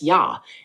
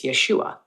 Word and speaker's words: Yeshua: The yod and Sarah together make Yeh, hence Yeshua.